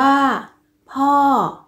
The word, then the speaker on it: พ้อ: จะ ออก เสียง โท คำ ว่า พ้อ ยท์ เป็น อักษร ต่ำ ผัน ด้วย วรรณยุกต์ โท ดัง นั้น จะ ออก เสียง ตรี นะ คะ เด็ก ๆ